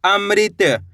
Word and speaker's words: अमृत: तो अ म में ऋ की मात्रा अमृ त मिलके बन जाएगा अमृत।